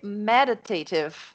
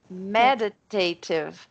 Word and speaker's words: meditative: tipo assim, essas 2 sílabas são fortes, mas a primeira é a mais forte de todas. Então seria por isso que eu estou tentando falar aqui. Meditative. Meditative. É como se fossem 2 palavras, a primeira sílaba de cada uma é forte.